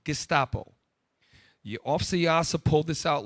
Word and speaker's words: Gestapo: Pull up the term Gestapo. Thank you. I pronounced it wrong. Gestapo.